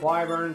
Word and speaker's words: Wyvern: Now, we found an extra wing of Wyvern, so we're going to go ahead and we're going to use one.